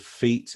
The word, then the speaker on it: feat: And the pronunciation of feet, F-E-A-T, exactly the same as the feet we stand on. You know, it's a Yeah. homophone.